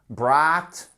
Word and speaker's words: brought: To bring, brought, brought. En fait, là, votre voyelle, votre combinaison de voyelles, vous la prononcez comme ceci. Brought. C'est une voyelle longue.